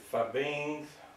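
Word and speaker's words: Fiebing's: I've got some I think it's fibbeans. Fibbeans. F I E B I N G S. I guess that's the southern pronunciation of it.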